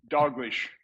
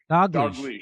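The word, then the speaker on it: Dalgleish: Uh I don't know how you pronounce his last name, Angus uh Doglish. Doglish.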